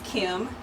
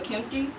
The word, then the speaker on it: Kimmiskiart: So my real name, how you pronounce it, is Kimmiskiart. Kimmiskiart. Kimmiskiart. There you go. And then like as you say it faster, people just go Kimski. Kimmiskiart. Like No, it's Kimmiskiart.